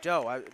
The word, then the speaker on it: Dow: Rowe for three. Excuse me, Dow. I was saying it wrong.